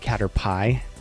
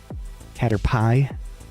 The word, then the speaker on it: Caterpie: I pronounce it Caterpie because it's P-I-E. Caterpie.